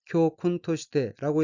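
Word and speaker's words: 教訓として: 둘째 줄 첫 번째 얻기 한자가 교훈이고 일본어로는 교쿤토시테라고 읽으며 교훈토시테는 교훈이란 뜻의 명사 또는 수류타동사인 콘플러스 뭐뭐으로서 뭐뭐로 해서란 뜻에 토시태로 된 어기로 효근 토시태는 교훈으로 해서 교훈삼아란 의미입니다.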